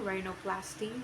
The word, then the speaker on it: rhinoplasty: RH, pronunciation R, example rhinoplasty, which means plastic repair of the nose.